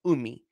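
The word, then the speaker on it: Umeh: Benedict Umi. I believe that's how you say it. Umi. U-M-E-H.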